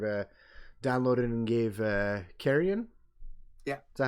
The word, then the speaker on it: Carrion: is that i've uh downloaded and gave uh carrion yeah is that how you say it yep